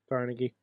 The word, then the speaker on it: Carnegie: That in the pronunciation of Carnegie, PA. Carnegie.